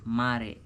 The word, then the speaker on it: Mar: So your mom used to call me Mar, pronounced like Mare.